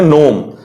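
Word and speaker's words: gnome: देखिए ये जी है और ये नो, इसका कोई मतलब नहीं है, ये बिना मतलब का है लेकिन है, मतलब ये है। और ये नोम, लेकिन इसका प्रोनाउंसिएशन क्या था? नोम था।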